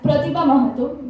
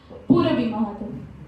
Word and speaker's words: Purabi Mahato: And I have wrongly pronounced the name as Pratibha Mahato, but ma'am's name is Purabi Mahato.